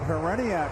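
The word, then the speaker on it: Hriniak: A little bit of a Walt Hereniak follow through there, Gary. Whether or not you pronounce the H, yeah.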